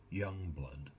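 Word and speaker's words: Jongbloed: I think it's spelled the name is spelled J O N G B L O E D and it's pronounced young blood basically.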